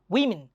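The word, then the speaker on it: women: আর যখন এই থাকে তখন এটার উচ্চারণ হয় মিন, ম্যান না কিন্তু মিন, উইমেন, ওমেন, উইমেন, ওম্যান, উইমেন।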